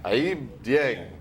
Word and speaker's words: Aiyb Dieng: So come and check Sandy Bull out there, and Aiyb Dieng. Did I say it right? Aiyb Dieng. Aiyb Dieng.